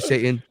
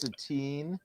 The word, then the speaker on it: Satine: Thank you, Satan. Actually, it's pronounced Satine.